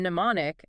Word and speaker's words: mnemonic: The M was actually pronounced before the N in mnemonic as recently as the late 1800s.